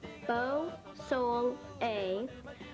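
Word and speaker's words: Beausoleil: mike dusay and his band beau soleil pronounce beau soul a wins a grammy for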